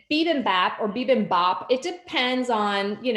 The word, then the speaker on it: bibimbap: And I even looked it up and investigated the history, but it's bibimbap. If you actually look at our wine shop card, it's spelled wrong on there.